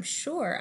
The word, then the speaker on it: sure: for the teacher I'm sure I will find your frog note here there's an S in the word sure but that is not an S sound we say it like the quiet zone note the difference between